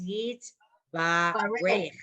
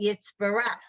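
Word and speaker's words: Yitbarach: No, but it's yeet, ba, reich. But we say it Yitzbarach. That's Yeah, my, but you've been saying it wrong.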